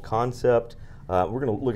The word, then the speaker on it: Kansept: three months called concept i said it wrong originally can cept just like patrick rollins did before the show it is concept k-a-n-s-e-p-t we are looking right